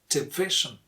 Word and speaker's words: division: This is division.